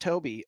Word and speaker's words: Tobe: It is Toby. It's spelled Tobe, pronounced Toby.